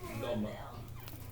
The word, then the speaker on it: l'homme: L'homme. And no, it's not homie, it's a l'homme.